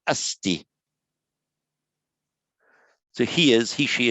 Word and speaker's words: asti: directly to the roots it's not asati but asti so he is he